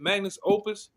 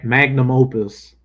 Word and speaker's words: magnum opus: Oh, how you say it? Magnus Opus. Yeah, magnum opus.